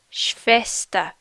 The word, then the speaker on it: Schwester: Schwester. Schwester. Remember that W makes a V sound.